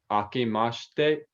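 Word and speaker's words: あけまして: their characters and here is how it's uh pronounced it's aki mashte okay say it one more time for me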